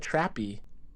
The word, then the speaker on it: Trappe: name no nobody does it's trappy you pronounce it is trappy okay people say trap all the time and I let it go most of the time because it's like so common but it's trappy cuz I always have